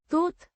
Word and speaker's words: тут: Pronounced. Toot. With a short У.